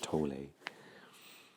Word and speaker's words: Tolle: teacher called eckhart tolle some people pronounce that eckhart tolle and um i i think you can probably use both i do think he minds but i'm used to the pronunciation of tole and you can find